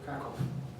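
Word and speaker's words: Kraków: So Krakow, in English, we ignore the accent, but the accent's important. So Krakow in the middle, the W is pronounced as a V, so the pronunciation is actually Krakow.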